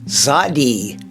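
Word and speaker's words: צדי: And we'll be looking at the 18th letter of the Hebrew alphabet, the Tsade, which makes the TS sound as in nuts.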